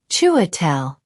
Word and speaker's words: Chiwetel: Chiwetel. It's pronounced Chiwetel. But most people call me Chi.